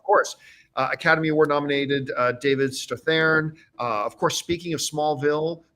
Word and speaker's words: Strathairn: Are you saying that right? Or am I saying it right? He goes, it's Strathairn. I'm like, well, holy shit, I've been saying it wrong for 15 years.